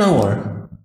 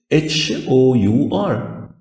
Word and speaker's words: hour: يعني بقول مثلا كلمة an hour ساعة زمنية، hour h o u r المفروض الان دي تيجي بعدها حرف متحرك a e i o u، ازاي جت h؟ ما ال h لا تنطق، فبقول an hour ما قلتش an hour.